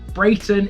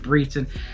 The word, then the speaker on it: Brayton: it's pronounced bobbith and brayton is actually pronounced breton i want to talk